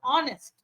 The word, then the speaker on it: honest: is not right okay in the word honest catch it silent it is honest okay if if you